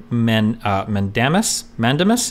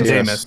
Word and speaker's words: mandamus: Indeed, consistent with that principle, states like even the lesser powers to issue writs of mandamus? How do you pronounce mandamus.